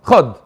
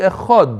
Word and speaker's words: echad: If you say it really quickly, it might sound like a shva. Chad. You have to say echad. You have to pronounce the ches.